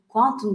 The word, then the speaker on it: Qtum: Bitcoin ve Ethereum'un projesini baz alarak bunların en kötü veyahut en çalışmayan taraflarını işleten ve kendi ağı olan Qtum, yani Quantum diye okunuyor aslında. Qtum diye okunmuyor.